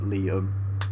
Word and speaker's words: Liam: your name but yes Liam as in like Lee yeah it's actually shot for William so weirdly although it's an abbreviation of William you pronounce it like Liam yeah very strange isn't